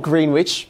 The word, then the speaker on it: Greenwich: stops at greenwich yeah so um and it is spelled greenwich but it is pronounced greenwich because you know